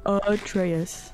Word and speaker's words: Atreus: I I can't I think it's Atraus. Atraus.